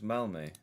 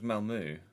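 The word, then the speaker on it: Malmö: Oh, it's Malme. Malma. Melma. I always thought it was Malmu.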